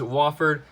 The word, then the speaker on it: Wofford: I think I've been pronouncing him as Wofford, and people have been getting mad at me for that. It is Wofford, and I think they'll be able to beat Arizona State.